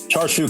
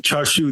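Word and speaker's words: Char Siu: Charshu can pay for a lot of bills, but it moves absolution further out of your reach.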